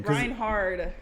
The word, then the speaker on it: Reinhard: Reinhard. Hard. Like the table is hard. Reinhard. So like Rhine, like yeah, like a watermelon, but it's hard. Yeah, like it's German.